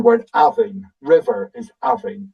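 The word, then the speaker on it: abhainn: River is Avin. It's not Avin, it's Avin. So we always put the emphasis on the first syllable.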